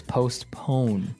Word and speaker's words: postpone: Now, it's interesting because you have a P in between there, so it's postpone. Postpone. Yeah, it's an interesting word to pronounce.